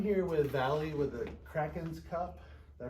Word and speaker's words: The Kraken's Cup: back right I'm here with Valley with the Krakens cup did I pronounce that right you did okay with the Krakens cup and they are located here at 4815 North